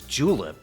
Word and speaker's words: julep: Today pronounced as julip as in the official drink of the Kentucky Derby.